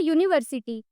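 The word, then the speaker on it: university: लेकिन अगर हम तीसरे एग्जाम्पल में देखें, इट इज अ यूनिवर्सिटी। यूनिवर्सिटी का जो यू है वो तो वॉवेल है, लेकिन जो उसका प्रोनाउंसिएशन है वो कॉन्सोनेंट है, जैसे कि वाई ओ ओ यू, इसीलिए इसके आगे ए का यूज हुआ है।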